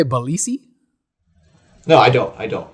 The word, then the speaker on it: Balicki: last name is pronounced it's pronounced balitsky in polish but it's so weird to go from english diction to polish diction so like whatever people say is fine you say belissi no i don't i